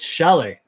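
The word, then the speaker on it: Šalé: Edward sale will they grab him he's ranked number 11 by the hockey news it's Shelly okay that's how it's pronounced uh six foot two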